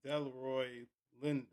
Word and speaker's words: Delroy Lindo: Lindor Leroy that is how you say his name is it should be Delroy Lindo Lend.